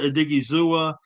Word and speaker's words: Odighizuwa: And Osa Odighizuwa is 20.75 at 16.25 base.